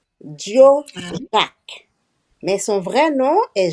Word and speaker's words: Joe Jack: Alors en Haïti, on le prononce Dio. Dio Jacques, mais son vrai nom est Joseph Jacques.